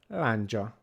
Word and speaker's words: lándzsa: Then we have a consonant which is made up of three different consonants from English, is D, Z, and S. But in Hungarian that's a D and a J. D, J. D, és, J. Together, J. J. J sound.